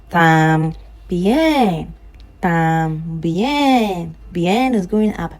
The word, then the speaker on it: también: No, the accent is on the E, so the tam goes down. También.